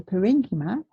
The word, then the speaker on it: parenchyma: or parenchyma potato patata okay so I say parenchyma because babies leave you know the pronunciation the green is when a study button